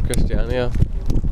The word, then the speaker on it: Christiania: it was a good Instinct so we're in Christiania that's how you say it um you're not